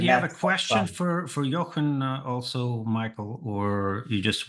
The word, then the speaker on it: Jochen: Did you say, how do you pronounce your name? Jochen.